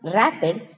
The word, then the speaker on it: RAPD: Random amplification of polymorphic DNA or RAPD, pronounced rapid, is a type of polymerase chain reaction, but the segments of DNA that are amplified are random.